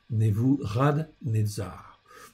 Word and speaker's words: Nebuchadnezzar: En fait, pour bien prononcer, on dit Nebuchadnezzar.